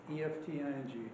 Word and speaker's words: Efting: Please correct my pronunciation. E-F-T-I-N-G.